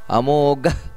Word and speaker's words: ಅಮೋಘ: ಇದೆ ಉಪೇಂದ್ರ ವಾಮನಃ ಪ್ರಾಂಶುರಮೋಘ ನೋಡಿ ಅಲ್ಲಿ ಘ ಅನ್ನೋದು ಮಹಾಪ್ರಾಣ ಅಮೋಘ ಘ ಹಕಾರ ಬರಬೇಕು ಕಡೆಗೆ ಪ್ರಾಂಶುಮೋಘ ಶುಚಿರೋರ್ಜಿತಹ ಶುಚಿರೋರ್ಜಿತ